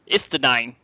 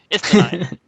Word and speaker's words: Estinien: going to be uh Estinien. I'm just going to say it like this German cuz I see nine every time I look at it. Estinien.